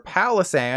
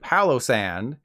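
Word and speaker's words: Palossand: examples of this are palisan instead of Palo sand Pancham instead of Pancham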